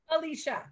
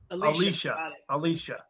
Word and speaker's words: Alicia: Wait, is it and Alicia or Elisa? How do you say your name? Alicia. Alicia.